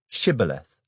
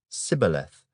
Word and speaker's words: Shibboleth: If he said, "No," then they would say to him, "Then say, Shibboleth." And he would say, Sibboleth, for he could not pronounce it right.